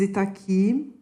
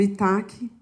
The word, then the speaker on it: Itaqui: E meu nome é Itaqui. Muitas pessoas me conhecem como Itaque, porque era assim que era pronunciado na TV Globo.